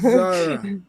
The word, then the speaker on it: Zara: Her name is Zara. This opportunity. All right. Zara rhymes with Mars bar.